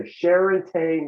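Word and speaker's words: Charentais: available year round this variety is called the sherate melon the melon yes can you spell that spell that c-h-a-r-e-n-t-a-i-s it is also referred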